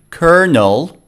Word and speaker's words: colonel: in this pronunciation box you can see how it sounds like kernel you can select the